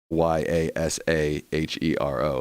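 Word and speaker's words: Yasujiro: leanings out of it no not yasa hero y a s a h e r o like like spelled like y a s j i r o yasa hero in a Japanese way U Ross says I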